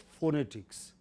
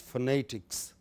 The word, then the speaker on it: phonetics: It's not phonetics. Many people in India pronounce it wrongly. It is phonetics. You stress ni.